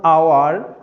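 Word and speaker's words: hour: কিন্তু ব্যতিক্রমের বেলায় এইচ এর উচ্চারণ যখন অ অথবা আ হবে, যেমন আওয়ার, অনেস্ট, অনারেবল, তাহলে এখানে এইচ এর উচ্চারণটা হ হয় নাই, কি হয়েছে?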